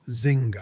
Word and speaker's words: Nzinga: And yes, it's pronounced zinga.